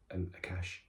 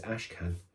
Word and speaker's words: Ashkan: The Professor Akash, who I said Akash, his name is Ashkan. Professor Ashkan. I just got that name wrong.